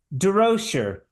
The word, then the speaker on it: Durocher: Durocher.